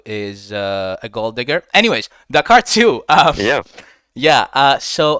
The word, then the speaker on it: Dakair: I mean, it's some people call you Dakar, some people call you Dakair. What's the correct pronunciation of that? I guess pretty much Dakair. Kind of uncomfortable when people say Dakar. Like, I think of the Cars movie for some reason.